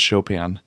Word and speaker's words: Chopin: Spelled Chopin. Yep. That's how I pronounced it when I was a kid. Yeah, Chopin etudes, no, it's Chopin.